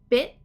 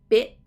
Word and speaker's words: bit: bit beat same thing these have a stop t bit it so what i'm feeling there is when i'm doing the e the tongue is coming up just behind the teeth to stop the t so you don't want to skip the t because then you just have be and it's not a word so you need that t bit long e b